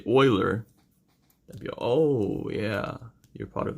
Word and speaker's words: Euler: as jeweler but it's actually oil there that pronounced like Euler okay if you put if you say you